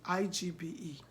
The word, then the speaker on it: Igbe: I-G-B-E.